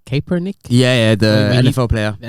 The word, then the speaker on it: Kaepernick: I can't pronounce his name. Kaepernick.